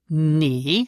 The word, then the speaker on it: nee: Yes, this is nee. So pronounce it nee. So it is very short and also a negative word.